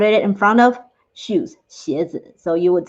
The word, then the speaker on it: 鞋子: Shoes in Mandarin, it is 鞋子，鞋子. Or in short, you can also say 鞋。鞋, one syllable is all you need.